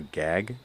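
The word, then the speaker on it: Gág: by the same author I think it's pronounced Wanda gag it's g a but it's a Hungarian name Wanda also did 1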